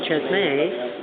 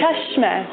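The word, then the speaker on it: Çeşme: from Chesme, which is near Cheshme. Cheshme. Chesme. I didn't know how to pronounce Oh, it.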